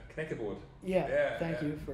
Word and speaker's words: Knäckebrot: But sure, I like those German crackers you guys make, Knackerbrot. Knäckebrot. Yeah, thank you for pronouncing that for me.